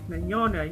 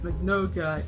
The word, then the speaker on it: Mignogna: And of course the thing with Vic Mignogna. Yes, and I pronounced it as Magnoga in my video made on the whole situation months ago.